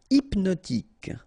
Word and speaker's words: hypnotique: Hypnotique. Remember, at the end, Q-E, K, tic. So, H is not pronounced.